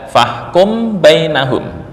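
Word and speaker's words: فاحكم بينهم: Mengikhfakan mim berarti dibaca dengan samar bukan bibir tertutup 100% ya.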